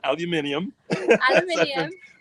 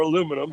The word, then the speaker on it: aluminium: you use it's uh it's aluminium as i've been corrected to say it properly or aluminum here in florida or in the united states but um yeah you